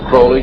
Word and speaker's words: Crowley: a violent Aleister Crowley he likes to have his name pronounced Crowley to rhyme with holy and the statement today